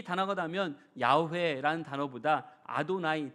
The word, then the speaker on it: 야훼: 그런데 학자들은요, 이 야훼가 원래 발음에 가깝다고도 밝힙니다.